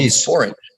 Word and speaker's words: sporange: There is a word that actually rhymes with orange, you know. Well, it's called sporange.